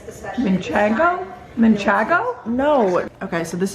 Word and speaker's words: Manchego: How do I pronounce manchego? Manchego. It's not how you say it. There's only one N in it, so that's not the correct pronunciation. It's Manchego?